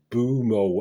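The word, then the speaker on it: Mbeumo: uh 2-1 against watford with em boo boom oh and boomo that's how you pronounce it score in the late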